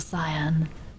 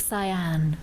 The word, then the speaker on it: cyan: You usually hear a more pronounced "an" at the end of cyan. Yeah, like cyan rather than cyan.